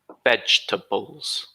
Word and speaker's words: vegetables: students potentially on YouTube this word vegetables is three syllables we don't pronounce this second e vegetables vegetables three sounds and then